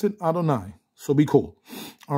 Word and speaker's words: Adonai: okay it says okay so thus Sith I pronounce it Adonai so be cool all right it says it's